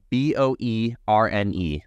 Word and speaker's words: Boerne: For all you out-of-state watchers, B-O-E-R-N-E. That's Boerne. That's how it's said out here.